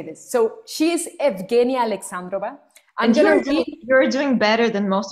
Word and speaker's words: Evgenia Alexandrova: When you send it to me, I was practicing, like, in Spanish, it would be like Eugenia. So Eugenia, yes, of course. Oh my God, how can I say this? So she is Evgenia Alexandrova.